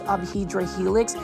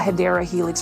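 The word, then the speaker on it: Hedera helix: new to the channel I do mispronounce hyera Helix as hedra Helix because for the longest time I thought it was aedra Helix and not hadera Helix for English ivy now it looks like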